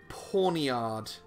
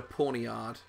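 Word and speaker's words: Pawniard: We got to catch ourselves a Duskwar and a Pawnyard. Which sounds kind of like Ponyta, but it's definitely not.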